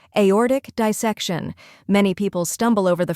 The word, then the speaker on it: aortic dissection: like the letter A or is emphasized like an orbit and tick is short and crisp next dissec shun where